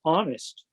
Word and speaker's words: honest: to realize that that's honest because who pronounces the h in honest um so so peter